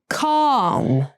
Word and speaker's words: calm: Calm, come. Calm has the ah sound that's pronounced with the lower tongue position, and come has the sound.